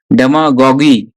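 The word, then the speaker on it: demagogue: डेमागॉगी। तो ये जो है ना, यू को बोलना नहीं है, यू ई को साइलेंट है।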